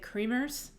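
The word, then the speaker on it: Creamer's: It's spelled like we would say creamers, like it's a dairy. Oh, yeah. It used to be a dairy, but Fairbanksans say Kramers.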